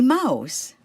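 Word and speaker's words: Maus: the computer mouse the mouse spelled m a u s but pronounced the same way pronounce it in English The Mouse and the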